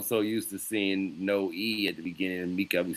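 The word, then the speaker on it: Emeka: But your name is EA.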